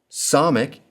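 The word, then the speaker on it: ס: Sonic is one of the S sounds in Hebrew and it sounds like the S in sin.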